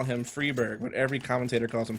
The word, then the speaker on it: Friberg: that's another thing yeah cuz it's not only the I being like two sounding like two e but the G sounding like a not a j but like a y sound like a yes sound or something strange strange for English speakers early famam coming out